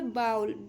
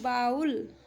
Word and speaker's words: bowl: और यह बाउल, BOWL, यहाँ पर W साइलेंट है, इसको पढ़ते हैं बाउल।